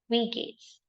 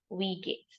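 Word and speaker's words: wie geht's: this in German pronounce this is hello Julia we Gates so J is silent here how do we remember again hello ulia we Gates we talking about gate gate right but it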